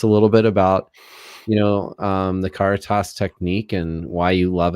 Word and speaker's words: Caritas: Caritas.